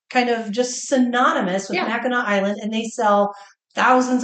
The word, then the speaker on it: Mackinac: Michigan oh yeah on Mackinac Island it is spelled like it should be called Mackinac that's right it is not the original Murdick's fudge